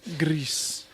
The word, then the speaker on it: GRIS: the musical but Greece like the way French people would pronounce Grey Goose or Gris I heard people saying Gris which is not right Greece but Greece came out